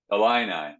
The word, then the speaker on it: Illini: How do you say they're? Illini. The Fighting Illini.